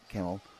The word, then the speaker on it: Kemal: That C at the front of a name can get pronounced in a number of different ways depending on the language it's originated. So it's I'll say Kemal Menavili, there we are,